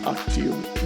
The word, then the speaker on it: octubre: Octiubre? It was Octubre.